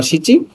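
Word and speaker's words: 七: সাত নানা বা সিচি।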